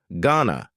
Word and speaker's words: gonna: Going to is generally pronounced with a schwa. Gonna you going to ask him out or not.